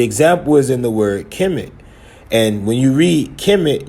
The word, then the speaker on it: Kemet: See, Kemet, black land. But you pronounce the T in the bread loaf, but you don't pronounce the Nuet, letting you know this is a city.